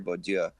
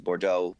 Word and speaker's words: Bourdieu: whatever you want to call him, anthropologist, Pierre Bourdieu, however you say his name is, Bourdieu. I like the first way you said speak it. French, I'm terrible. But Pierre Bourdieu, this is what he writes a lot about,